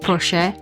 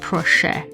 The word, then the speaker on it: proszę: So for the longest time I pronounced proszę and not proszę. And it's just a little roll of the tongue. It could mean pig or please.